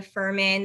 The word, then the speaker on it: Fuhrman: my name at Ferman there's a silent h in my last name I'm sure you'll have